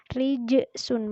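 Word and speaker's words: رِجْسٌ: Rijsun, membacanya memantul rijsun.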